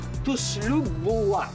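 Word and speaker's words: tuslob buwa: As always, hindi ko pa rin mapropronounce ng tama yung local dish. Please help me. Opo. Ano pang pangalan? Tuslog buwa. Tuslog buwa.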